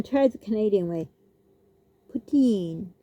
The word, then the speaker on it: poutine: Poutine. Okay, we say poutine. I'm going to try the Canadian way. Poutine, like that.